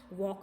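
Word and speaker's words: walk: जैसे यहाँ पे once again see here, वॉक में भी यहाँ पे एल के नीचे अंडरलाइन करना है, राइट, जिसका प्रोनाउंसिएशन नहीं होता है, एल जो है वो साइलेंट है।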